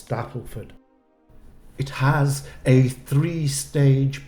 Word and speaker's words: Stapleford: Mary in Stapleford leester no not Stapleford it's Stapleford now I've had my hands slapped a few times so I double checked on the pronunciation of the place and it's Stapleford it has a three